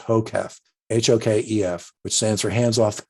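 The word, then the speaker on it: HOKEF: class it's a it's an acronym which is pronounced hocaf h-o-k-e-f which stands for hands-off keyboard eyes front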